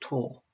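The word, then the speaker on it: tau: to find the torque now the greek letter tor is a small letter and it looks a little bit like a t with a curly tail and it's pronounced tall and we use the formula tor equals r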